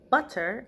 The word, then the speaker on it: butter: butter is spelled b-u-t-t-e-r however our two t's becomes it becomes like a d sound so i'm saying instead of saying butter like in british english we say butter and so when you're